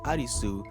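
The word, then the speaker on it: アリス: Similarly in Lane, there's a character named Arisu, the Japanese pronunciation of Alice.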